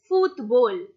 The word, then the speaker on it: fútbol: So it's el fútbol. Again, you has an accent, we are stressing on you and saying football.